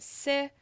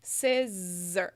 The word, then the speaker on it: scissor: But remember, si is the stress syllable, and that's the one that needs to be the clearest. So the zer is like kind of I barely move my mouth, as you see.